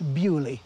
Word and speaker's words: Beaulieu: contre le marquis de on écrit Beaulieu mais ça se prononce Biolay en britannique qui avait une secrétaire